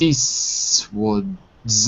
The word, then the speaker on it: Eastwood: Clint Eastwood's American. So there's, because we dropped the T in Eastwood, the S is a little longer.